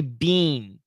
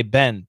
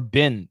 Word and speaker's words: been: had been this pronunciation a lot of students want to say bean but no american says bean we say ben ben ben or bin bin we had been we